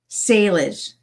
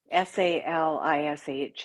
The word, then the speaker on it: Salish: It's, you know, it's obviously a different language, so it it is hard to sometimes translate it from English and to know how to pronounce the A, but it's Salish.